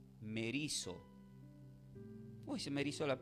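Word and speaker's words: μερίζω: Entonces en el texto del capítulo de Mateo 12, 25, la palabra traducida como dividida proviene del verbo griego que se pronuncia como merizo.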